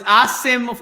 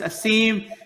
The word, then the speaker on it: Asim: Is it Asim or Asim? I need to know. Well, it's Asim. If you can pronounce it, it's Asim. Has been all my career life, so they're both fine.